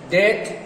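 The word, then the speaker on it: debt: Creation থেকে create, ওর্স থেকে ওরসেন, ওর্স থেকে ওরসেন, তারপরে ডেট, এটা উচ্চারণ বি এর উচ্চারণ হবে না, ডেট, ডেট থেকে ইনডেট, প্লান্টেশন থেকে প্লান্ট, এগুলো হলো ভার্বের রূপান্তর।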